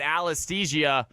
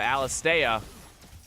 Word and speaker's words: Alastea: And Sicario and Alasthesia playing the Misfortune and Soraka. Alastea. I apologize. It is not Alasthesia. Alastea.